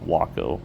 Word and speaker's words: Waco: I remember correctly and I don't know if I'm pronouncing it right being here in Texas I want to say Waco uh it's spelled like that but I believe it was pronounced Waco U what you call it aircraft something else to mention